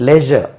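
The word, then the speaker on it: leisure: அதுக்கு ஜெனரலா மெஷர்மெண்ட் எடுத்தாச்சான்னு சொல்லக்கூடாது measurement television measurement லேசர் லேசர் time இருந்தா லேசர் இருந்தா வாப்பா அப்படி சொல்லக்கூடாது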